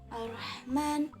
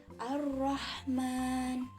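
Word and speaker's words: الرحمن: hai ar-rahman habis itu dibacanya ada penekanan di huruf roknya jadi ar-rahman bukan Rohman tapi ar-rahman Nah tarqiq itu dibaca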